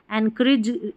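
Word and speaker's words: encourage: यहां पर ओ यू को अ पढ़ा जा रहा है।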